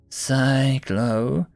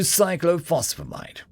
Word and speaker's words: cyclophosphamide: tried to speak it psychlo he said nervous close the two-legged ones said the two characters here when together sound like an f and that one at